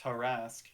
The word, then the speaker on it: Tarask: Fucking Tarask is written with an A. Yeah. yeah. Christ. Yeah. You wouldn't think it'd be T-E-R? Tarask? It's Tarask. Yeah, it's always It is pronounced Tarask.